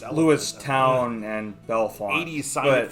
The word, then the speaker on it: Lewistown: We're getting 99 for Lewiston and Bellefonte. What? What is that? Lewiston and Bellefonte. Lewiston, I think, is 322. Pronounced Lewistown and Bellefonte.